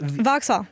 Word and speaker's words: Vauxhall: maturity or whatever, like is it Vauxhall or how do you say it? Vauxhall. Vauxhall, Jesus. Vauxhall. I'm like, is it an X? Is it silent?